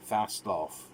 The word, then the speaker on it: Fastolf: where daniel is from and where dr hans fastolf that's the pronunciation uh was from and he had met